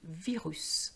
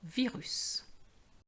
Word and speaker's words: virus: is going to be virus so we are going to pronounce the S virus same thing for the